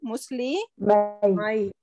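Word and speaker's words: مسلمَيْ: Noon is dropped over here, right? Yeah. To make it light. So meem, and then we have to pronounce this ya as well. So that would be Muslimai. Muslimai.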